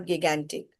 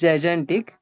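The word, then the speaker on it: gigantic: गगेंटिकटिक इट इज जजिक इट्स नॉट गगेंटिक इट्स जजेंटिक yes okay okay thank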